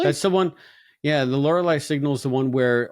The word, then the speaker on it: Lorelei: Yeah, the L'Oreal signal, is that right? Lorelei signal. Lorelei, really? That's the one. Yeah, the Lorelei signal is the one